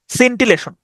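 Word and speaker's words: scintillation: টি আই ও এন সিন্টিল্লাসন আমি এভাবে উচ্চারণ করতাম এস সিন্টি সিন্টিল্লাসন আমি এভাবে উচ্চারণ করতাম হ্যাঁ এস সিন টিল্লাসন সিন্টিলেশন সিন্টিলেশন মানে হচ্ছে দেখবেন ওই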